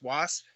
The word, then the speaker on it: WSAP: Wasp. That's how you say it.